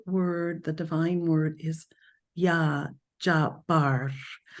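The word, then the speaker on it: Ya Jabbar: is yah J Bar and there's a little roll of the r j and there's emphasis on the B sound it's spelled j a BB it's a double b a r and the emphasis is on the bar little r Rolling Y okay the emphasis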